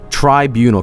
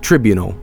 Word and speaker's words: tribunal: Tribunal, because in Swedish we said it as tribunal because you didn't really know what it was. Tribunal, think of triangle, you know.